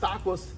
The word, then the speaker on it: tacos: of time in fact these are pronounced tacos take Coast so it